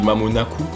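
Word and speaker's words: まもなく: Et en fait, je savais pas si c'était exactement la bonne prononciation. Et c'est quand je regarde un animé et il l'a dit. Il y avait les sous-titres en fait en japonais. Du coup, j'ai lu et c'est Mamonaku. Et j'ai compris en fait la signification.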